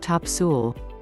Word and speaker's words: Topsail: onslow county the 26 mile long top sail pronounced top sewell was once another rumored hideaway for the pirate